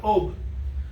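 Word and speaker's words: אוב: Específicamente él dice que busque a alguien que tenga espíritu de adivinación, lo cual se pronuncia Ob.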